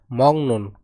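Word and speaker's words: 먹는: রিয়া অর্থাৎ পরিবেশন করে মংনুন খাওয়ার এর উচ্চারণ হবে মং নুন এই গিয়ের উচ্চারণ হবে অং তাহলে মংনুন খাওয়ার অংশীগর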